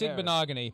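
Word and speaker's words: Igbinoghene: It's Igbokwe, yeah.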